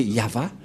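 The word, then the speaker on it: יהוה: a invoqué le nom de Yahva, et la prononciation de Y-H, Vav, He, selon les Hébreux, c'est Yahva, et personne ne peut le contester, car ce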